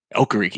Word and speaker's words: Okereke: Okereke, yeah.